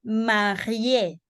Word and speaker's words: marié: Cuando tengamos, chicas, una E tildada al final, esa sí se pronuncia. ¿Ok? Por ejemplo, il est marié.